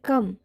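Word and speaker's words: comb: जैसे बनाना, जॉब, इन दोनों वर्डों में बी का उच्चारण हुआ है, लेकिन डम एंड कम इन दो वर्डों में बी का उच्चारण नहीं हुआ है, क्योंकि एम के बाद बी आया है।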